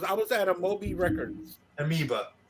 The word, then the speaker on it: Amoeba: was at Amobi records amoeba amiba thank you you always you always help me I always mispronounce it amiba and it's there on